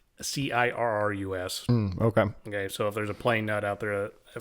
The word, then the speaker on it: Cirrus: The Cyrus, I don't know if it's Cirrus or Cyrus, it's Cirrus.